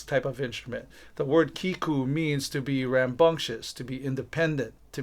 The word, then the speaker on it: Kīkū: is called a Kiku that's spelled kahako e which is the letter i k again and which is the letter U so we pronounce the name with a a longer uh stress over the vowels oh so the word